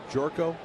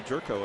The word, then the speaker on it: Gyorko: See, he's Hungarian, so you know, sometimes the Y is silent, and sometimes O's are pronounced differently. Yeah, it's definitely Jerko, and in fact, I